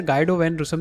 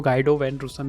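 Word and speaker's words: Guido van Rossum: तो देखो, गाइडो वैन रूसम, like GUIDO, आप इसका कुछ भी नाम प्रोनाउंस कर सकते हैं, बट मैं तो इसको गाइडो वैन रूसम ही प्रोनाउंस करता हूँ।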